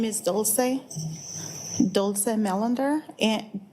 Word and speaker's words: Dulce: to have you tell us your name and spell it out because the court reporter is writing everything down. Um, my name is Doulce Doulsece Melander and D U L C E